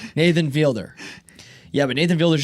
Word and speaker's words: Fielder: the other name Nathan Fielder. Yeah, but Nathan Fielder is just such a genius. Fielder. I've been saying Felder for the longest.